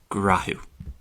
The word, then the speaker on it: Gnáthamh: So, when we put these 3 rules together, which are seen all the time in Ulster Irish in a load of different words, that is why Gnáthamh changes to grahu.